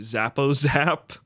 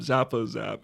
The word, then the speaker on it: Zappo Zap: Zappo Zap. It's spelled how it sounds.